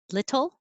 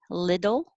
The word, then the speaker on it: little: t's little um so little is the correct perfect way little with a d is what you'll hear most often from native speakers of american english and that's how we